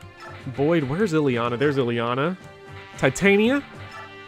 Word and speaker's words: Titania: where's iliana there's ileana titania or titania it is titania that's the actual name i don't know if heroes confirmed to tonya but uh that's how it's said in a midsummer night's dream so i gotta pull